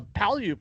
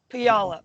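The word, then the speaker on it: Puyallup: a fire near uh palyup where dan is yeah pialap actually um pronounce the name of that city right yeah no one can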